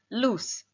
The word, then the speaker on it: loose: the next one is loose the s sound which means that something